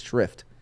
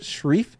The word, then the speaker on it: shrift: oh shrift Swift sorry somebody mispronounced it is shrift uh that was that was you if these characters were given such short shreef because they're from the